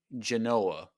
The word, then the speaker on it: Genoa: It's her name is Fee Genoa. Like it's spelled like Genoa salami, if you know what that kind of salami is.